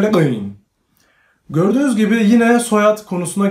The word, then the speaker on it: Le Guin: Bu soyadı okurken çok dikkatli olmanız gerekir. Çünkü bu gördüğünüz gibi bu şurada Adem elması vardır ya. Aslında Adem elması bu Ursula Kalle'nin adının nasıl okuyacağınızı yapabilmeniz konusunda konulmuş diye rivayetler var.